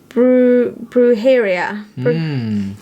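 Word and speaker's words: brujería: the spanish name which i did look up the pronunciation for now i can't find bruheria yes so she but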